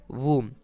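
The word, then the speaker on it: womb: तो ये हो गया हमारा वर्ड वूम। अगला वर्ड है CLIMB, तो B तो हमारा साइलेंट रहेगा और CLIM को हम क्लाइम पढ़ेंगे।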